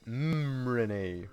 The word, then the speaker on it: Renee: Sorry, I'm keep saying Renee, but yeah, it's pronounced Renee for some reason.